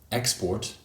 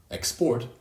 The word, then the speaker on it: export: player yellow handsome dancer also for words that can be used as both verbs and nouns for example export export the noun has stress on the first syllable export and the